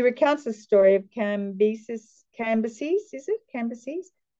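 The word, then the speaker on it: Cambyses: the story of cambisis canvases is it canvases how do you say it Judah is it can be canvas says chembis um I think it's generally canvases but kambiasis thank you can buy actions against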